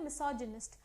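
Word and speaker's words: misogynist: तो मीसोगाइनिस्ट का मीनिंग है, मिसोजिनिस्ट बोलते हैं, तो कैसे प्रोनाउंस करते हैं? मिसोजिनिस्ट।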